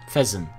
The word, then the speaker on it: Fezzan: Fezzan. I said it right the first time.